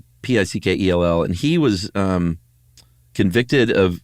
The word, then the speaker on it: Pickell: I don't think it's pronounced Pickle. Pickell.